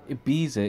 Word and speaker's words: Ibiza: Why do you say it like that? Ibiza is spelled with a Z, not a th.